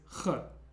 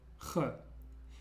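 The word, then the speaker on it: Х: This letter is a little bit difficult to pronounce because we don't really have a sound like this in English. The closest we have is like the Ch sound at the end of loch. Loch. But it's similar to having a H sound like an H, but putting it more in the back of your throat and creating some tension there, like Ch.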